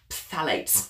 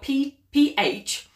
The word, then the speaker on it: phthalates: Number two, phthalates. It's a hard one to say. So it's spelled P-H-T-H-A-L-A-T-E-S, phthalates.